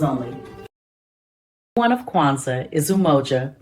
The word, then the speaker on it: Umoja: One of Kwanzaa is Umoja, pronounced Umoja, meaning unity.